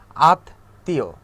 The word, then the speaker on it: আত্মীয়: যেমন দেখেন গ্রীষ্ম, ঠিক আছে, আমরা কিন্তু বলি না যে গ্রীষ্ম বা আত্মীয়, এরকম কিন্তু আমরা বলি না, আমরা কি বলি আত্মীয়।